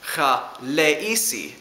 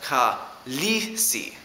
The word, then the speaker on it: Khaleesi: You might have noticed that I pronounced it as Khaleesi, not as Khaleesi. This is because in Dothraki, when you have two vowel symbols next to each other, there's a gap between them.